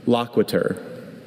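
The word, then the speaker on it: loquitur: Loquiter. Is there any alternate pronunciation?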